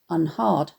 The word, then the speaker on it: unheard: For example, unheard would have been pronounced unhard, to rhyme with regard at the time Thomas was writing.